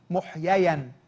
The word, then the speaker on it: محييا: الروح وبرده خلي بالكم النطق الصحيح محييا في الروح يعني ايه محييا في الروح يعني وقع عليه فعل الفاعل احيا محيي محيا احيا ده الفعل محيي هو الفاعل محييا ده اسم مفعول فالرب يسوع المسيح في